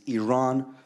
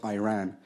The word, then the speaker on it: Iran: First of all, you say you support the Iranian people, but you're pronouncing our country's name wrong. Our country is named Iran, not Iran.